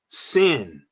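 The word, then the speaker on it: שׂ: this letter sh Shin if it's on the left you pronounce it s sin all right that was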